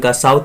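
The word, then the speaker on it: Nkosi: The vision of white singing, यहाँ पर थोड़ा सा देखते हैं, एन साइलेंट है, कोसी आप बोल सकते हैं, सिकेलल और आई Africa and black singing D stem.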